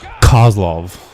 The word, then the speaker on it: Kozlov: So you got to pronounce the K really. Kozlov.